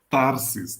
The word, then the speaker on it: Tarsis: então eu acho que eu tô pronunciando seu nome errado né É tarsis tá bom então obrigado